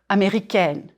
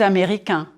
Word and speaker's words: américain: And then the adjective, américain or américaine. If you are a man, je suis américain, américain. 4 syllables. Américain. Drop your jaw on the final nasal sound.